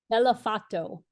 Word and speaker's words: Bellofatto: you say your last name by the way bellato bellato okay Jess bellato it's so great to